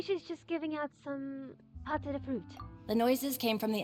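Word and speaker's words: pâte de fruit: Thanks for the pâté de fruit. That's how you pronounce it.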